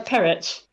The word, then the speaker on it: Perrett: is the lovely stella how do you say your last name uh parrot parrot yeah yeah i know